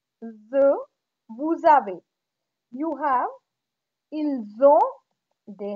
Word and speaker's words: vous avez: Vous avez, again here liaison, the, vous avez, you have.